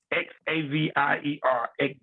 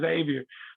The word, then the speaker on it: Xavier: i saw the catamount x-a-v-i-e-r-x xavier and uh of course now we we the the x is silent so you say xavier and so um and